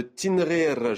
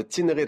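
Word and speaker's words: Tinghir: le film documentaire de tinrir je le prononce en berbère de tinrir à Jérusalem les échos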